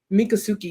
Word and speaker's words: Miccosukee: Seminole and the, I want to say this Miccosukee. right. Miccosukee, yes. That one's a Yes. little bit tougher for me to pronounce, Yes.